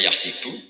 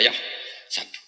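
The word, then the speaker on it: يحسب: k wahsabu zaidun k karena dalam qiraah Sabah ada yang baca yahsibu qiraah kita baca yah sabu tapi guru-guru kita kalau ngajar fikih itu bacanya yahsibu tapi kalau baca Quran yahsabu ya kan Quran kita kan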